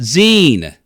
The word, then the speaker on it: zine: I like to call it's pronounced Zen not z uh this is a